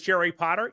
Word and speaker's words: Jerry Potter: My name is Jerry Potter. Yes, it rhymes with the boy wizard, host of the Social Media Marketing Talk Show, a Social Media Examiner production.